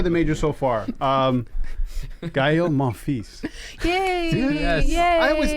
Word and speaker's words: Monfils: Gael Monfils. Yay! Yes. Yay! I didn't know you had to pronounce the S. I've been watching this guy Yes. for years. I always thought there was no S.